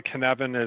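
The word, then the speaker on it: Cynefin: was at ibm and it's a welsh word and that's why kinevin is not at all how it's spelled but that's how it's said it actually start uh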